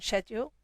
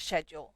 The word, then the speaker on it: schedule: Because here in the UK, we say schedule, schedule, whereas our friends in the US say schedule, schedule.